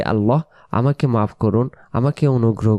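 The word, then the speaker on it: الأعلى: সেজে যে আমরা পড়ব আলা রব্বিয়াল আলা। এ শব্দটা যে ভুল হতে পারে আমরা বলি অনেকেই আলা। আলা বললে এই জায়গায় আইন অক্ষর বাদ চলে যায়।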